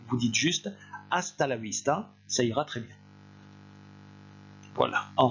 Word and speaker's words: vista: après moi hasta la vista et vous n'oubliez pas que le v se prononcent b alors cette expression là